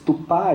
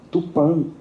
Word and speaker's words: Tupã: Não só o Manitós, mas esse tupá, escrito com A aberto, destoa muito da pronúncia corrente tupã, com A fechado, nasalizado, que era mais comum no tupi.